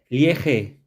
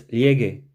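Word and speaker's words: llegué: Well, if I didn't have that U there, it would be pronounced llegue. And I don't want to say llegue. I want to have the same sound as G that's there, okay? So it's llegue, okay?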